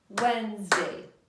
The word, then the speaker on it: Wednesday: Tuesday has two syllables now let's try Wednesday it's longer I think it's gonna be three let's see Wednesday let's try that again Wednesday only two syllables for Wednesday as well very good now listen